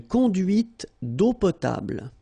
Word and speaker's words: conduite d'eau potable: Final E here and here are not pronounced. And then when you combine these two, or sorry, these three vowels E, A, U, you get the sound O. Only O.